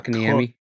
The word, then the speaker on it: Kotkaniemi: Kotkaniemi.